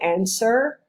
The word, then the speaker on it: answer: When you say answer, don't pronounce the W, of course.